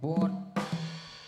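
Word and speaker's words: โหวด: ขอ โหวต หน่อย ครับ ขอ โหวต โๆ สระโอ เฮา เห บ่ แหวน เด็ก ครับ อ่าน ว่า หูว โหวต โหวต ครับ โหวต โว ๆ นี่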